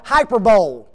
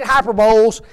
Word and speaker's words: hyperbole: okay the very first one is called hyperbole okay no not really that's not that's not the way it's anybody know how to say it ah there you go yes hyperbole okay I can just